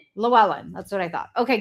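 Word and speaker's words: Llewellyn: Llewellen. Llewellen.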